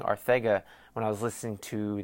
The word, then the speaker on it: Arcega: So maybe I've been pronouncing it wrong this whole time because it's a C, A-R-C, Ega. So why the fuck is it Arcega?